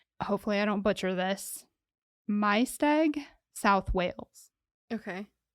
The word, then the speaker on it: Maesteg: And she grew up in, hopefully I don't butcher this, Maesteg, South Wales. Okay. It looks like Maesteg, but I'm pretty sure they pronounce it Maesteg.